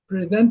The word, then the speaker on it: present: But if it's used as a verb like in this context, the stress falls on the second part.